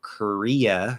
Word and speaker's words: Korea: i appreciate it um in american english these are going to sound very different because we actually do have an r vowel um that is pronounced as an r uh so korea right ker ker so it's not core you could say korea but usually we don't just like korea because it's unstressed korea korea okay where in the